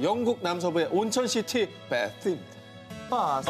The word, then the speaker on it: Bath: 바스. 어, 도시 이름이요? 그렇습니다. 영국 발음으로 바스라고.